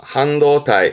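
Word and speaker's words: 半導体: 네, 댓글에 하반기 발음 한번 적어보시겠습니까? 이 데스네. 반도자죠. 반도체입니다. 한도타이, 한도타이.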